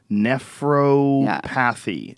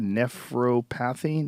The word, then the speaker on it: nephropathy: on a pub Med site about ool oxalate nephropathy due to juicing and uh this patient with